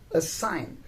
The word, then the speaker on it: assign: word or a verb assign so a sign is spelled as a double s i g n here the g is silent but when we change